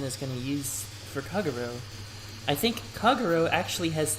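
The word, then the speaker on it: Kagerou: Kagero, just say it like that, Kagero.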